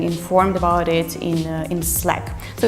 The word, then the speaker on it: Slack: sure you have but a lot of people pronounce it is slack actually if you check out the videos that the company produced telling about how to use the program they pronounce it as slack so please stick to the rule and pronounce